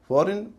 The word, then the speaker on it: foreign: फॉरेन और सोवरेन, इनमें पहले सिलेबल पे जोर है, दूसरा सिलेबल हल्का हो जाता है, इसीलिए इसका उच्चारण होगा फॉरेन या सोवरेन।